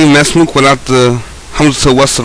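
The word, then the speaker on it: ما اسمك: That's why if you see it written, it will look like you're saying ma ismuk, but actually it's mesmuk. Mesmuk, because two sukoons cannot be right next to each other.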